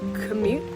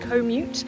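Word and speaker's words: Komoot: using this app today called commute commute it's k-o-m-o-o-t i think it's spelt and it basically allows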